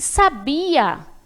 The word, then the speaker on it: sabia: E sabia, esse verbo aí, ó. Olha a tônica onde está. Sabia. Coloquei mais intensidade na sílaba bi.